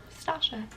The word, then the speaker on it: Stacia: That's how you pronounce my name, Stacia.